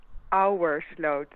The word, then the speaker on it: Ouwerslot: Ouwerslot, which is pronounced as Our slot. our slot. Yeah, Yeah. that sounds Like the very. oh, you probably you want to say it like ooh, but you just have to figure it's Ow. OA, like boat, our slot.